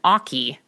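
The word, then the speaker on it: oche: And so listeners know the spelling of oki is O-C-H-E. It looks like oach or oak.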